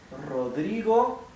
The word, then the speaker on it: Rodrigo: you will see now Rodrigo that's my given name okay Rodrigo is my family name good um see how the first R is pronounced hard r this r in the